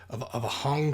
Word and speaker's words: hang: It kind of reminds me of a hong drum. I believe it's pronounced H-A-N-G, but I think it's pronounced hong drum, or like maybe like a